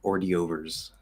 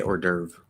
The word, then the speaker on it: hors d'oeuvre: or you could say the way my grandma says it which is um ordy overs um which i think is probably closer to the french i don't really know how it's supposed to be pronounced in french but she says already overs um yeah we say hors d'oeuvre because from an amer